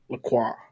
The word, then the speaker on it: La Croix: La Croix. It's pronounced La Croix.